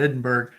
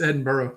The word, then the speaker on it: Edinburgh: you're like me you want to call it Edinburg but you're gonna get in trouble is it edinb there it's Edinburgh yeah oh okay well that's that's easy enough